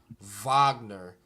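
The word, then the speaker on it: Wagner: coach says it's pronounced Vagner yeah V I mean is pronounced more like a V uhhuh like Volks yeah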